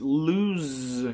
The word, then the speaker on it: lose: We need to take away an O. It's lose control.